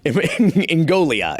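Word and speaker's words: Ingoglia: Ngoglia is how you pronounce it.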